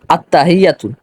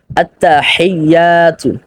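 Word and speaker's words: التحيات: আর এই যে আত্তাহিয়াতু এখানে যেই হাটা রয়েছে এটা হলো গলার মধ্যখান থেকে উচ্চারিত হা এখানে আবার অনেকে রয়েছে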